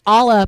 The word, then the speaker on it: Allah: And I've been saying it wrong this entire time, and none of y'all. Okay, it's Allah, by the way.